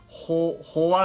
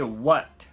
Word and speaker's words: What: るんですけども、 Hoa ではなくて What、ですね。